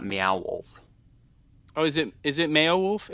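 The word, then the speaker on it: Meow Wolf: I imagine he meant Beowulf, not Mayowolf.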